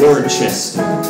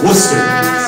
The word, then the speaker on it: Worcester: and I just said I said war Chester and one of the hobos said no son no don't don't say it like that cuz someone will stick you with a so it's Worcester so practice practice so